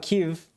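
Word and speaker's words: Kyiv: it kiev is respectful the ukrainians ukrainians call it kiev call it kyuv and russians call it give with more of a like like two-syllable thing kiev is how you're supposed to pronounce it if you're ukrainian he's just doing like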